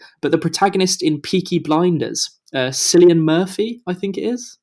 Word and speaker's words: Cillian: Cillian Um, Murphy is the name of him. yeah, You pronounced it right.